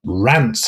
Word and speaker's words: Rance: credited feature films and Rance Howard. So Rance Rance Rants maybe Rance here. Maybe Rance in America. Isn't it rhyming? It's spelled like Lance but with a R.